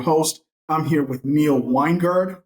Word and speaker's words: Wengerd: here with Neil weingard am I saying your last name right it's close enough we got one guard Winegard Wenger it's it's and sometimes I even pronounce it differently it's uh it's all over the place but it's fine you're good